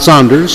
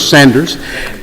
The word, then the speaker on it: Sanders: Is it Sanders? Not Saunders, Sanders.